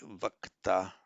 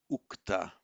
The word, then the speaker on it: ukta: passive participle, you would expect to see something like vakta, but it's not that. It's ukta, and the reason it is ukta, not vakta, is that in Vedic it was stressed on the last syllable ukta, and so the va being an unstressed syllable before a stressed syllable mutates to u, so ukta.